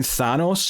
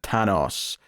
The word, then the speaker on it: Thanos: is a rapper who I was reading Thanos in the subtitles but I think they were pronouncing it tanos uh but he's got